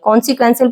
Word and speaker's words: कॉन्सिक्वेंशियल: कॉन्सिक्वेंशियल पढ़ेंगे फ्रेंड्स इसको, इसका सही प्रोनाउंसिएशन है कॉन्सिक्वेंशियल। एसेंशियल, सिग्निफिकेंट कहते हैं महत्वपूर्ण, इम्पोर्टेंट, कॉन्सिक्वेंशियल आवश्यक होना चीजें।